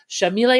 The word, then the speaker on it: Shamil: the classroom um but Shamil is how you pronounce her name she's Argentine so it's you got to have the Sha in there so Shamil Sayed Mendes